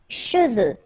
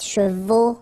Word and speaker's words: cheveux: Final X is not pronounced.